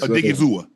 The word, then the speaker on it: Odighizuwa: Osa Odighizuwa. Did I pronounce that right? Osa. Yes, Odighizuwa.